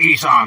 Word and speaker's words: Isom: It's pronounced Isom, you whole-ass cracker.